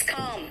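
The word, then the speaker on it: calm: एंड काम इट is naught L. इट्स काम।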